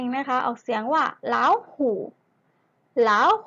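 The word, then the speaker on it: 老虎: เสือ นั่น เอง นะ คะ ออก เสียง ว่า เล่า ฮู ล่า ฮู นัก เรียน ออก แจ้ง ตาม เรา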